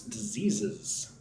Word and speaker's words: diseases: Please pronounce diseases. Diseases. So there are a couple of different S sounds in English. There's the S like a snake, S, and then there's the S like a bee, goes bzzz, right?